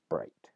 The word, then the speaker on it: bright: vowel shift and becomes bright right but the key is the consonant represented by the gh is lost completely in other environments and other